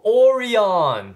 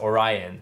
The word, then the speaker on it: Orion: like dub yes they were actually saying go oreon yeah because once again katakana or so people are correcting us saying it's not pronounced orion it's pronounced as orion yeah and